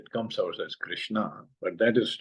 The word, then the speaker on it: Krishna: Similarly, Krishna. Krishna is 2.5 syllable. And if I close the mouth at end of Krishna, if I say Krishna, then its last syllable is also half, which is not right.